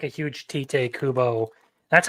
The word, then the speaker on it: Tite Kubo: not like a huge Tite Kubo. That's how you pronounce the name, by the way, because that's Japanese, you fucking twat.